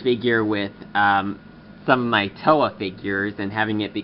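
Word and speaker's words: Towa: on next is Russo green whose name is TOA by the way it's spelled t o w a which on a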